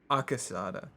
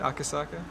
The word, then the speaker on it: Akasaka: Mamoru Akasada. Saka. Carne Akasaka? Mamoru Akasaka. Is that how you say it? Akasaka?